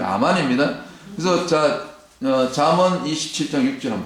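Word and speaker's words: אמן: 아멘 7장 6절에 보면이 우리는 아멘으로 얘기하는데 영어도 아멘인데 원래 히브리어 너는 아멘이 아만으로 온 거야 아마 모범 발음이 아만입니다 그래서 잠언 27장 6절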